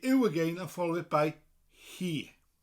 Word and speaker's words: hi: and follow it by he spelled hi and it often confuses people learning welsh that the word for she in welsh is pronounced he he is she and